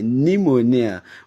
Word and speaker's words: pneumonia: o n i a pneumonia but you discover that in that spelling or in that word the the P there is silent so why would Eble